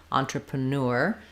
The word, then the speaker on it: entrepreneur: the first syllable though or actually on the last syllable entrepreneur and I can either say this one like newer or ner entrepreneur um the en says on like letters o n or you could think of it as on antra entrepr entrepreneur or entrepreneur um whichever is easier for you is okay um and then for